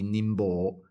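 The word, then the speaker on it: 寧波: And I was like, "Oh, well, I guess in Japanese it would be Nimbo, but you could pronounce it na," which would be like again using the Japanese pronunciation of these characters.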